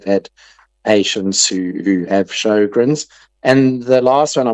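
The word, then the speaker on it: Sjögren: Um, and it's called Shogrin syndrome, which is spelled SJ and then an O with two littleies on it. Two little dots above it. G R E N. Shogrin syndrome.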